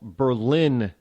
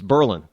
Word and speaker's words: Berlin: It even goes so far that we don't even call Berlin. It's Berlin. I'm not joshing you on that at all. It really is Berlin.